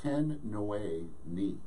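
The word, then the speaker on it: Tin Nwe Ni: Ten Nui Ni. And here's the way it's spelled, T-I-N space N-W-E space N-I.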